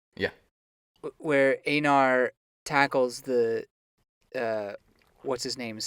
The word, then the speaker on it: Einar: Einar. Yeah. Where Einar tackles the what's his name's son?